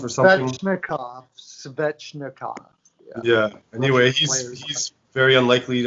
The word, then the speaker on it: Svechnikov: I don't know, how do you pronounce his name for the Carolina? Shneshnikov or something? Svechnikov.